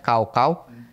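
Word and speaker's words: 高考: n namanya ada tesnya namanya G tulisannya gaauau dibacanya kaau kau itu gila-gilaan dia harus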